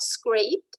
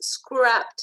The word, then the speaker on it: scrapped: It's not scraped, it's scrapped.